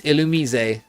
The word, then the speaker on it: Illumise: I can guarantee that you have at least once pronounced this Pokemon's name wrong. It's Illumise. Why? Why would it be Illumise?